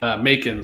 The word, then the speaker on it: Macon: Some reason I think Macon sometime. I don't know. Maybe because it rhymes with bacon.